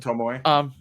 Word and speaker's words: Tomoe: Tomoe. Yeah, is it Tomoe? Tomoe? Tomoe. Tomoe? Okay. It's 3 syllables.